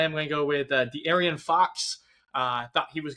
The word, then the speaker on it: De'Aaron: De'Aaron. I told you how to pronounce it. De'Aaron. That's on me. You just added so many different syllables that you didn't need to.